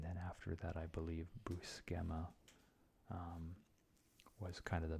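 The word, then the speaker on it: Buscema: here here's John bukem I always always pronounce it bua um there's the web comics podcast I think it's just I'm trying to remember what it's called it's just web comments weekly I believe and they always pronounce it his name boo schema so that's why I pronounce it that way now because I think they know what they're talking about I could be wrong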